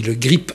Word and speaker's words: Le Grip: Aujourd'hui, nous recevons Constance Legris. Bonjour. Je suis un peu gêné parce que en fait, votre nom s'écrit Le Grip avec un P à la fin qui sonne bien.